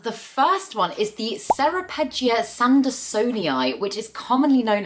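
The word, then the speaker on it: Ceropegia: quite interesting was that serapia or carapia I'm pretty sure it's pronounced carapia is actually derived from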